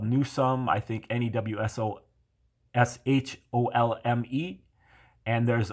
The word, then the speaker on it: Newsome: uh many other variants i think they're all pronounced newsome but they're spelled in many different ways so there in england there's a township there that's called newsome i think n-e-w-s-o-s-h-o-l-m-e and